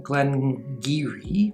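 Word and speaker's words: Glen Garioch: of fruit and uh glengiri which is spelled way different than it pronounced is from that region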